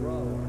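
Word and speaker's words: Brougher: James Whitcomb Brawler. Brawler, huh? It rhymes with B-R-O-W-E-R. Why do you have that G-H in there?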